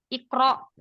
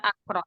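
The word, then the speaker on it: اِقْرَأْ: Alifnya itu dibaca kasroh. Iftah, ikro. Bukan aftah, bukan akro. Tapi iftah, ikro.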